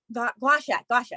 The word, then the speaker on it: gua sha: Gua sha.